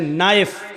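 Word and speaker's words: knife: जैसे इंग्लिश में नाइफ किसको कहते हैं, चाकू को। नाइफ के माना चाकू, लेकिन के लिखा जाता है, बोला नहीं जाता, वो साइलेंट रहता है।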